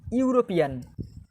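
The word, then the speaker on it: European: যেমন dash ইউরোপিয়ান, ইউরোপিয়ান। দেখো এখানে এইটা ভাওয়েল আছে, ইটা vowel, A ই আই ও ইউ, eta vowel, কিন্তু ইটাকে যখন উচ্চারণ করছি ইউরোপিয়ান, ইউরোপিয়ান ইউ এর মতো হচ্ছে ইউরোপিয়ান, ঠিক আছে?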